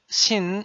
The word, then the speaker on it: 신: In the syllable 신, you know 시옷 is sounded 스, 이 is sounded E. 니은 is sounded N. Then, if you pronounce it with the feeling at once, as like 스이느, 스이느, 스이느, 스이느, sin. Finally, the sound shin is completed.